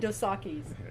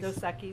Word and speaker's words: Dos Equis: and what I found so fascinating was I loved that there was regional, and Dosakis. Go Or for it. I'm sorry, how do you say it? Dos Equis? Dos Equis.